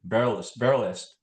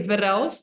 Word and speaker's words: Verrelst: conversations we are live on Facebook with Ruth barel barst did I pronounce that correctly yeah we say verel but that's a difficult it's something yeah that's